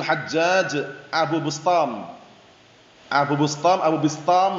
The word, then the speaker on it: Abu Bistam: Abu Bustom Abu Bustom Abu Bistam bacanya memang seperti itu.